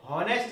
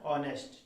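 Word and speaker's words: honest: Raju is ऑनेस्ट, हॉनेस्ट नहीं पढ़ना है, ठीक है इसमें, क्योंकि इसमें एच साइलेंट होता है। क्या होता है, एच साइलेंट होता है, ठीक है। तो इसको हम क्या पढ़ते हैं, ऑनेस्ट, ठीक है, ऑनेस्ट।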